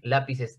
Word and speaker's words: lápiz: ¿Por qué lápiz es grave? Porque la tonicidad está en la.